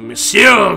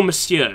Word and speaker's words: monsieur: It is still monsieur, isn't it? Not monsieur. Because I've heard some of you pronounce the N, but I'm pretty sure the N's silent.